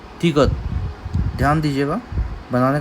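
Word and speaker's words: 디귿: Pronunciation क्या है? त य द, सॉफ्ट टी या सॉफ्ट डी। कोरियन लैंग्वेज में कोई भी हार्ड प्रोनाउंसिएशन नहीं होता, या तो सॉफ्ट त या सॉफ्ट द, इनके बीच का प्रोनाउंसिएशन मीन्स त त त। तो ये तिगत का प्रोनाउंसिएशन है।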